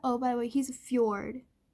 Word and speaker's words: fjord: And then here we have, by the way, he's a fjord. He's a fjord, not a ford.